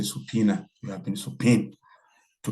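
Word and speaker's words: subpoena: attended your judges but in the legal pronunciation we say subpena you have been subp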